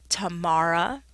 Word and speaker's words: Tamara: main Student Affairs office the pronunciation of my name which is Tamara um just think tomorrow Tomorrow there's also a Tamara